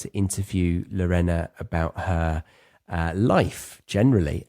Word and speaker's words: Lorena: Lorena. Sorry, I've got your pronunciation wrong. It's okay. In England, people call me Lorena. Lorena. My name's actually pronounced Lorenna.